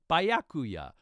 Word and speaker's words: Byakuya: I could not for the life of me pronounce Byakuya's name. Byakuya, Byakuya, Bukaki, and other such names.